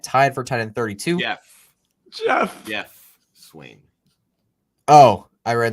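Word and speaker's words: Geoff: well wait i do have something so wait like uh jeff lambert is it pronounced jeff yes like you know lambert on twitter i always pronounce it g off in my head you psycho it makes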